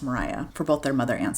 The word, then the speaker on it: Maria: Mariah is spelled like Maria, M A R I A, but pronounced Mariah for both their mother and sister.